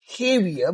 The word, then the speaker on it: Javier: We call him Javier because Cubans and some pronunciations J is not pronounced as J, right?